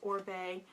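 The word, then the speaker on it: Oribe: Second item I pulled out of the bin was Orbe, or Orib, I don't know how you want to say it, but I believe it's pronounced Orbe, and he's a hairdresser.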